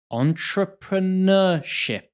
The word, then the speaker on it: entrepreneurship: So let's just start with pronunciation. Entrepreneur. Entrepreneurship.